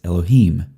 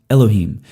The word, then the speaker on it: Elohim: But when you add something to the end of a word in Hebrew, Hebrew likes to keep that accent on the end.